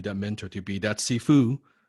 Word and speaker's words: Sifu: And I do have a lot of students who ask me, like, what does Sifu mean in Chinese? It's actually made of two words. C-S-I-F-U, Sifu, that's how you pronounce it.